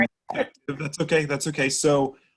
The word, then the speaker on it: Effectv: So actually, the way we pronounce our company's name is Effective.